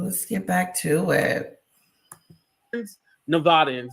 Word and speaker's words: Nevadans: Nevadans, that's how you say it, monthly across 12 counties,